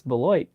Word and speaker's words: Beloit: He goes, nobody knows how to pronounce our city name. And he goes, it's Beloit.